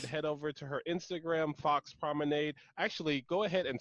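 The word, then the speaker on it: Foxx Promenade: over to her Instagram, Fox Promenade. Actually, go ahead and spell that out for us. Oh, yeah, yeah. It's F-O-X-X, so two X's, P-R-O-M-E-N-A-D-E. It's like lemonade, but with prom.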